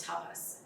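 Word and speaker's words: tapas: lesson discipline the Sanskrit word for that is tabas t-a-p-a-s tell discipline I I always say it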